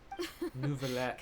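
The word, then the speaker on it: Neuvillette: Nuvallet is how they say it.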